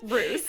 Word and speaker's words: Roos: Roos. Roos like a rooster without the tur.